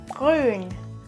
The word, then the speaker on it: grün: If you struggle with pronouncing umlauts like the letter Ü, take a pen. You have to take the pen in your mouth and then you pronounce the word. And if you say Ü, the tip of your tongue has to touch the pen. If it doesn't touch it, you don't pronounce it correctly.